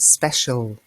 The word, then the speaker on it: special: doesn't look like it and special now there's no Sh there's no letter so we use spesh see wasn't it special because it's special it's a special word ok we also have